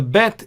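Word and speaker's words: ב: The bet is pronounced as b, boy sound, b sound. Whereas without the dot, it is pronounced v sound.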